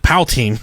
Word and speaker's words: poutine: I always pronounced it poutine.